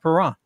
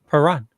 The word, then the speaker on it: Perron: next year, just remember the T is silent in chalet, just like Perron. Perron.